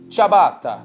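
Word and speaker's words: ciabatta: go about pronouncing it with a typical Italian pronunciation the way they would say it in Italy chab chab chabata all right so instead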